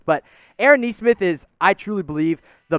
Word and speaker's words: Nesmith: I know you see that last name, and you're like, wait, isn't that Naismith? No, it's actually pronounced Nesmith, but Aaron Nesmith is, I truly believe, the best pure shooter in this class.